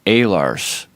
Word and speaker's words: Oehlers: And over there it's pronounced Oehlers, according to my grandfather.